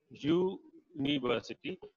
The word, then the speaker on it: university: We say university, the sound is ya sound, not one of the vowel sounds.